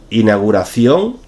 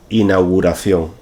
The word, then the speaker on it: inauguración: m de fotos 41 inauguración inauguración en este caso lo que hacemos en muchas ocasiones es simplificar el diptongo ui y dejarlo simplemente en la inauguración es incorrecto lo correcto es inauguración por ejemplo hemos asistido